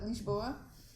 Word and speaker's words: Lisboa: So I said Lisboa. And his response was, oh, so you guys don't say the N?